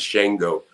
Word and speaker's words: Shango: pick that name and it's shingle the correct pronunciation of it is shango but i thought that sounded too country papashango and so i made a shongo because it just sounded cooler but shango is the uh keeper of the dead i